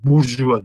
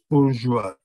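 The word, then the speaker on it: Bourgeois: Leon zannediyorum Burjuva diye okunuyor.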